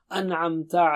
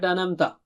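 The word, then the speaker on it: أَنْعَمْتَ: An'amta alayhim. An. Should be very clear. It's not anamta. It's not anamta. No. An'amta.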